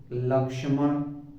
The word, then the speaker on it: लक्ष्मण: हुआ है प्लस अर्थात इसके उच्चारण में आधिक का का उच्चारण होना चाहिए जैसे लक्ष्मण लक अधि का है